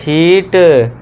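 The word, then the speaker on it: heat: जैसे कि ह ईट हीट ये आ गया हीट बड़ी ई की मात्रा न ईट NEET N double E टी उसको भी नीट पढ़ते हैं।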